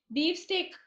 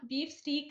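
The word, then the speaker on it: beef steak: തന്നെ ഒരു അനുഭവം പറയുന്നുണ്ട് ബീഫ് സ്റ്റേക്ക് എന്നതിന്റെ ഉച്ചാരണം ബീഫ് സ്റ്റീക്ക് എന്നല്ല ബീഫ് സ്റ്റേക്ക് ആണെന്ന് യഥാർത്ഥ ഉച്ചാരണം എന്ന് മനസ്സിലാക്കിയത് youtube വീഡിയോ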